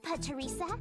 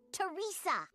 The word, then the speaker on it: Pateresa: Hi, Pateresa. It's pronounced Teresa. As in pterodactyl, the P in Pateresa is silent.